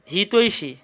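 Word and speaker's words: হিতৈষী: বুঝে আসছে এরপরে আসো হিতশি সঠিক উচ্চারণ কি হবে হিতৈশি একটা রসই আসবে।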